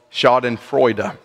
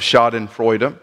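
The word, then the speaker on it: Schadenfreude: suffered with the bouts of what is called shod and frea may have heard this word before maybe you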